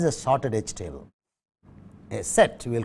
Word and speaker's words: SET: It's not a typical set, it's a sorted edge table called in sort SET is probably the correct way of pronouncing it. You can use set, but SET we will use.